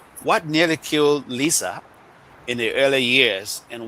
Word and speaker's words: LISA: And so we decided to start something that is called LISA at the time, and later LISA Africa, because the intent is not only for Liberia but Africa. So it's pronounced Lisa. I call it Lesat.